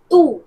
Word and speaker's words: too: Into the rabbit hole टू। Alice भी के लिए यूज किया है टू, TOO टू, इसको ठू नहीं प्रोनाउंस करते, क्या होता है ये टू।